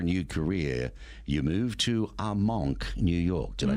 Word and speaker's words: Armonk: chance for a new career, you moved to Armonk, New York. Did I pronounce that correctly? Yep, Armonk.